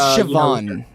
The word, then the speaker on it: Siobhan: lot actually yeah I like how she is Siobhan it is there you go yeah there you